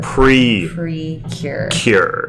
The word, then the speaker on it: Precure: princess what Matt you you need to pronounce that there's no princess Precure go princess PK right here Precure it's a magical girl